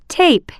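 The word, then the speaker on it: tape: sound in the word টেপ right app এর উচ্চারণটি লম্বা হবে লিসেন এন্ড রিড শোনো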